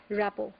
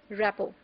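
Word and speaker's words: rapport: more precise is called rapo it is written as r a p p o r t but the t is silent it is pronounced as rppo so there is a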